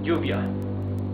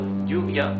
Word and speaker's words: lluvia: Double L is pronounced like Y in yo, in I, yes? So, for example, rain, lluvia, would be with double L at the beginning of the word.